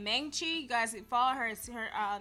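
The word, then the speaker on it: Maangchi: Meng Chi. You guys follow her. Her name is spelled M-A-A-N-G-C-H-I, I think.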